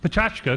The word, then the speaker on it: Pecha Kucha: petrikucha but for pronounced patachka because it's a Japanese phrase the idea is you